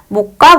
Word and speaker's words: 몫: 자, 근데 목과 몫은 서로 다른 음절 유형에 해당한다 했는데, 사실 이 목과 이 몫은요, 여기 다음분 단순화에 의해서 이 시옷이 떨어지고 우리는 이것을 그대로 목 이렇게 발음을 하죠.